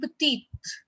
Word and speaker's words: petite: Then we have petit, petit and petite. This is the difference between both the pronunciations.